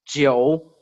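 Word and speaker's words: 九: Nine is Jiu, and it also is the same pronunciation.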